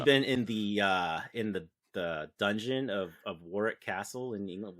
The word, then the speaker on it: Warwick: I've actually been in the dungeon of Warwick Castle in England. Warwick, as in Warwick Davis. It's where I learned that you don't pronounce the W.